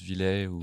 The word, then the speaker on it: Villet: de mauvaise prononciation techniquement c'est ça se prononce Villette mais c'est trop tard les gens disent villaient maintenant c'est bâti sur survie